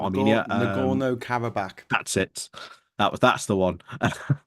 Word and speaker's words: Nagorno-Karabakh: We started off talking, Geoscope about the conflict in let's pronounce it properly, Nagorno-Karabakh in Armenia, not Armenia, Nagorno-Karabakh.